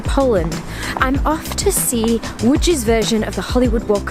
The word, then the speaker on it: Łódź: in the city of woods which is spelt LOD Zi but pronounced wood in Polish and it's just a